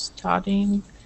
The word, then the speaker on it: studying: She is studying for her exam. Yes, studying. Make sure to pronounce that that Y.